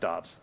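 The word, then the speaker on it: Doubs: packers camp saying no it's actually pronounced dobbs and i'm like the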